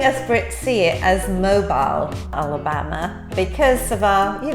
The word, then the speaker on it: Mobile: you can say it okay mobile like a mobile app yes the next one